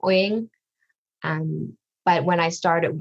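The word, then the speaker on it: Uyên: even for vietnamese so technically it's wing but a lot of vietnamese say when um because you have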